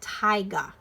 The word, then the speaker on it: taiga: was telling you about this is called taiga that's how you pronounce that and I really like